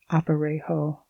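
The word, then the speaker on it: aparejo: saddle or what is known as an opero pronounced opero but civilian Packers often use the cross tree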